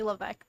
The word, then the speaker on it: Levesque: my name is that it's actually Levesque the S is silent uh the French Canadians like to do that with different letters and they choose it